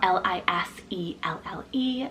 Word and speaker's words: Liselle: soft and sweet sounding name I also love lizelle spell l-i-s-e-l-l-e liselle this is an English rooted name meaning